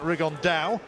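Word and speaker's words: Rigondeaux: rig on though or as he's correctly pronounced with the spanish accent rig on dao and look two absolute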